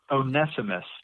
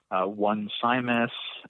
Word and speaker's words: Onesimus: getting it right and I'm gonna go with onesimus today as the proper pronunciation onesimus but we could probably come up with all kinds of ways to mess up that name we could call him once I miss or onesimus or